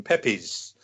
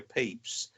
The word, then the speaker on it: Pepys: there tell us about Samuel beeps mark oh peeps is quite a very interesting character you've been explained who he is first yeah well Pete's the famous diarist and most Americans pronounce him Pepys rather than it's pronounced P EEPs and he